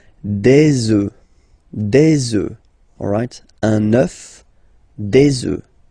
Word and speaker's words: œufs: Okay, and we'll make the liaison here to make it sound more beautiful. Des œufs, alright, un œuf, des œufs.